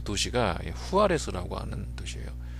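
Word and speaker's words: Juárez: 붙어 있는 그 도시가 후아레스 하는 도시예요 그 영어로 하면 주 그를 이제 후 h 발음으로 이렇게 발음을 하기 때문에 후아레스 부르는데 이제 거기가 뭐로 유명하냐면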